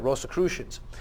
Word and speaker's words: Rosicrucians: The money was traced back to the Rosy Cross and the Rosicrucians, if I'm pronouncing that. Rosicrucians, yep. Rosicrucians.